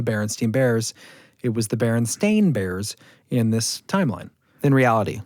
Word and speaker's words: Berenstain Bears: It was the Berenstain Bears in this timeline. In reality. Right. So it's just another example of something that confounds a lot of people. So it's actually Berenstain Bears.